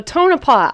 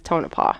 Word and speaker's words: Tonopah: Tonopah I heard it I heard it said a couple different ways but I think it actually is Tonopah yeah right that's how I've been here okay so don't come at us if we're saying it wrong most people have said it this way so what other way